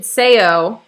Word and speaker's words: Sejo: just evolved that way okay amazing also noted sayo is the correct pronunciation i want to say oh it right